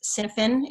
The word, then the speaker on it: Cynefin: It sounds like Cynefin, but it's Cynefin is how it's pronounced.